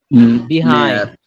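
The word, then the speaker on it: behind: পিছনে এর ইংলিশ হচ্ছে বিহাইন্ড। বিহাইন্ড, HIND, বিহাইন্ড। এটাকে এটাকে আরেকভাবে উচ্চারণ করা যায়, এটা হচ্ছে বাহাইন্ড। বিহাইন্ড ও বলা যাবে, বাহাইন্ড ও বলা যাবে।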